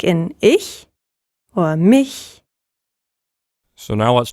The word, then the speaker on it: ich: say ch exactly so one of them is like ich and the other is in the back of the mouth like bach yes so when you